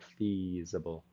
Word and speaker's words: feasible: saying the word feasible he was saying it a little bit with a short i sound like feasible feasible okay so we want to make that e we just want to pull those sides of our lips back feasible get that long vowel sound in there